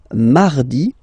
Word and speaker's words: mardi: So you can hear that you don't pronounce it that strongly, this R. Huh? Mardi, mardi, okay? You don't need to go too deep like mardi. No, no, no. You don't move your tongue, so it doesn't sound like mardi.